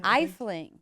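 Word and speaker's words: Efteling: Elfling? How do you say it? Eifling? Eifling.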